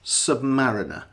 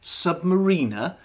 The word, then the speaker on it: Submariner: how to pronounce it, this is a Rolex Submariner, not a Rolex Submariner. A submarine is a vessel that goes under the water. A submariner is a person that goes in a submarine.